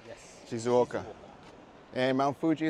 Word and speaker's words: Shizuoka: the name of this place how do you pronounce it shoka shizuoka yes shizuoka and Mount Fuji it's probably in that direction